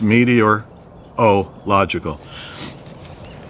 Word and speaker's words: meteorological: It has 7 syllables. I looked it up. The easiest way to say it is meteorological.